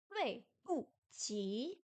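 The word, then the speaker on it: 对不起: 对不起, Dui Bu Qi. Pardon. Le D se prononce comme un T français.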